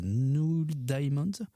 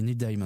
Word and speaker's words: Neil Diamond: d'un groupe qui s'appelle Null Diamond qui essaie de de Ahil Diamond. Ah oui Neil Diamond. Ouis c'est la mauvaise prononciation.